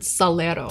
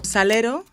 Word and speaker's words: salero: spanish say the word salero salero salt shaker salero salero this r is made with a flap of the tongue on the ridge behind the front teeth that's not too far